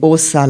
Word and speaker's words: Åsa: J'ai nommé Åsa Larsson. Ça s'écrit avec un A et un petit... Un A et un petit rond au-dessus, ce qui se prononce O.